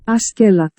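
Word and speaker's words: Askeladd: Prénom targallo-danois qui se prononce en réalité Askelat.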